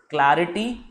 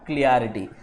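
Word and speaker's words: clarity: क्योंकि दिमाग में क्लियर वर्ड बैठा हुआ है और आपने इटी लगा दिया क्वालिटी बनाने के लिए, जबकि the right word is क्लैरिटी, नॉट क्लियरिटी।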